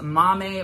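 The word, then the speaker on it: Maame: I'm talking about is Mommy by Jessica George and yes that is how you say it because the description of how to say it like the phonetical spelling is in the Goodreads description speaking of which let's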